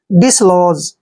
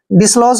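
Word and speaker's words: dislodge: बार बता लिया कि जी से पहले अगर डी आता है तो डी का हमने यहां पर नहीं करना है ध्यान रखने वाली बात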